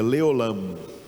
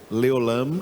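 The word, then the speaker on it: לעולם: com letras em português primeira palavrinha diga leolam leolam leolam é como se fala em hebraico para sempre para sempre em hebraico não são duas palavras para sempre é uma palavra só leolam Como em inglês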